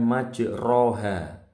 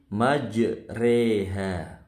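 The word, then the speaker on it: مجراها: ini nanti perhatikan baik-baik bacanya bukan majroha tapi majreha majriha ya kita baca dari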